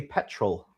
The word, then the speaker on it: petrol: Paul says the Brits Brits say petrol. They actually say petrol. There's an L on the end.